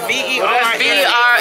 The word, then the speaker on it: Versace: he spelled it the way he pronounced it. I think, what is it? V-E-R-S-A-C-E. It's like Versace.